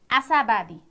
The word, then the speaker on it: आशावादी: अर्को हेर्नुहोस् त, आशावादी आशावादी, आ सा बा दी। यहाँ दीर्घ दी लेखिए तापनि, दीर्घ इकारको दी लेखिए तापनि उच्चारणमा चाहिँ ह्रस्व नै हुन्छ है त।